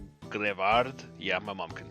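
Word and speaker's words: Greavard: Grievard? Grievard. So like graveyards. Grevard.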